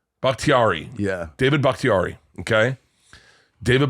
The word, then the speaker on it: Bakhtiari: say it tiari yeah David bhaktiari okay David bakhtiari his eyes his eyes yeah made me I